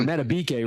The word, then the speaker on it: Madubuike: The doctors now Madubuike, if you remember, he was out, or Madubuike rather. That's how you pronounce his name.